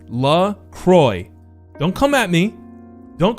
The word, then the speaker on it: La Croix: right here how is lacroix pronounced it's la croix it rhymes with enjoy there you go let's